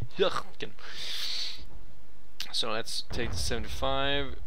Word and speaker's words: Hürtgen: I think it's Hirt. That's a German U, pronounced as Y more or less. I think it is like Hürtgen.